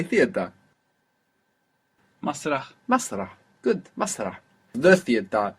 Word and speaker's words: مسرح: Masrah. We must hear that breathy H on the end there. Masrah.